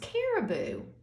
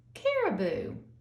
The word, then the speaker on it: caribou: you about that had the antlers the they're pronounced caribou say that with miss Pam care boo caribou and this is the other animal that has